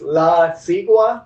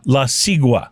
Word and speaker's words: La Sigua: Oh, it's La Sigua? La Sigua. Okay, very good. Well, my Spanish pronunciation is better on some words.